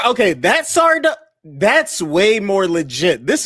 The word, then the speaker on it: Sardo: I'd rather I'd rather you said Fazio or Sardo. Like that's a better that's a better uh Who is Sardo again? Oh, Mr. accent on the dough.